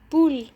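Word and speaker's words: poule: يعني بول فرخة، بول فرخة مش بنطق حرف الاو في اخر الكلام.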